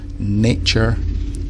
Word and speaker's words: nature: pronunciation here is that the first a changes sound in the different forms of the word so a nature is an a sound whereas in natural it becomes an a sound nature natural the Knik set